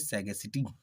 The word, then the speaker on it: sagacity: Our tenth word is सैगेसिटी। Our tenth word is सैगेसिटी, जिसका spelling है SAGACITY।